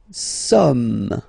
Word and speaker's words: sommes: Nous sommes. Okay, nous sommes. Okay, so you don't pronounce the final S here. It doesn't exist. Sommes.